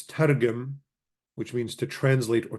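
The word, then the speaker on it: תרגם: The root is tau resh gamel meme, and it's targum, which means to translate or to explain. Targum, and what's usually pronounced with the gamel being sort of softened as a J, so it's tarjum.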